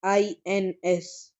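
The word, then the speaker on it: eins: no Lee null null e I n s is one and it's pronunciation is ins ins ins zwe I is 2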